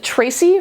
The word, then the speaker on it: Ptraci: So I'm going with Tracy from Pyramids. I'm never positive if you're supposed to pronounce the P or not. I'm going to go with not.